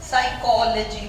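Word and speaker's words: psychology: PS साथ आएंगे तो P साइलेंट हो जाएगा। साइकोलॉजी पढ़ते हो तुम लोग, नॉट साइकोलॉजी, साइकोलॉजी फोनेटिक्स है तुम्हारे कोर्स में, साइकोलॉजी, P साइलेंट।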